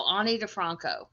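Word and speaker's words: Ani DiFranco: saying it right the annie defranco but i don't know okay so she it's pronounced like i if i were speaking okay if i yeah um but so ani defranco so uh i really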